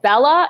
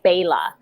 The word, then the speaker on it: Bela: You don't pronounce it like it looks. Like Bella is actually Bela.